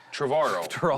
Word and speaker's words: Trevorrow: Travaro like tomorrow.